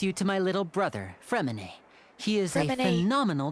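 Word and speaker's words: Freminet: It's like pear, but the silent S pear. It's alright, you go ahead. Like his penguin is spelled P-E-R-S, but it's just pear. So his name is Fremine. Without the T.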